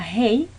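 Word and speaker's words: ה: la dallette la de la Hey que se pronuncia como una H aspirada Hey lavab que es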